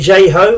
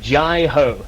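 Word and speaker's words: Jai Ho: So this is it J-Ho? Is that how it's pronounced? Well, you'll hear the tenor section shouting it quite a lot. It is Jai-Ho.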